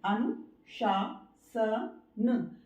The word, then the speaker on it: अनुशासन: इसका जो correct pronunciation है वो है अनुशासन, शासन, शासन।